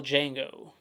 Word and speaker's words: Django: like I said and Spell Django thing iconic scene right there the D is silent Sam Demi meet Sam